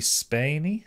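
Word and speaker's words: Spaeny: So the main character, Rain, is played by Kaylee Spiney. Spiney? I can't know how to pronounce her surname.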